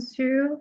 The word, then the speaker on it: Xu: Hi everyone, my name is Su. Last name is spelled XU and I was born on February 10, 1984.